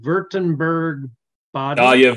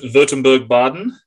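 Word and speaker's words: Württemberg-Baden: You're gonna have to pronounce these, Clint. Württemberg Baden. Württemberg Baden.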